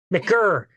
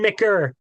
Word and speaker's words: McGirr: of talking to McGirr. Right? Did I say it right? Now, McGirr, no T at the end. McGirr.